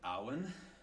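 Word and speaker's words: אָוֶן: This one would be pronounced something like awen.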